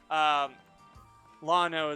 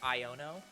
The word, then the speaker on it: Iono: So in Lano's name, you know how we've been pronouncing it with an L? You mean Iono? Yep. Yeah, no, I'm pretty sure It's an I.